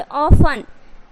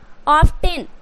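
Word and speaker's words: often: अगर टी उच्चारण करोगे तो क्या हो जाएगा, मैच, कैच, बैच, ऑफ्टेन, लिस्टेन, इस तरीके से। तो ये गलत हो जाएंगे, आपको टी जो है वो साइलेंट करना है।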